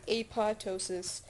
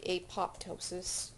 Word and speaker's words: apoptosis: different pronunciations for this I've heard a pod ptosis I like apoptosis just because it sounds funnier so cancer cells have